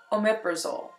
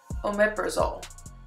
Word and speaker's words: omeprazole: or I should say tell you how to pronounce this drug omeprazole omeprazole that is the generic name and the brand